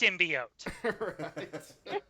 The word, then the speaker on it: symbiote: Because like, well, bolder move, mispronouncing symbiote. Right. I It's just not thought that was so funny. idiot. It's symbiote.